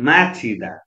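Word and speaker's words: 맞히다: अनि माछिदा है, मा छ, तल ज छ, हसँग ठोकिएको छ, भवेल ई छ, माछिदा माछिदा भनेको मिल्नु, किनभने ज र हको मिश्रण हुँदा जको उच्चारण छ भयो, ह साइलेन्ट भयो, त्यसले गर्दा माछिदा माछिदा भनेको मिल्नु है।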